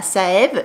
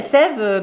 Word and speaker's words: Saeve: Ça se prononce Sève et pas Saève.